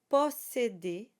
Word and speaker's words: posséder: Posséder. So the O is very open. Posséder. And we have to be careful. It is an E accent. Posséder and not posséder.